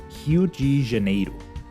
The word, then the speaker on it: Rio de Janeiro: very common misconception that Brazil's capital city is Rio de Janeiro fun fact in Portuguese the city is actually pronounced hu janeo and Rio or hu did used to be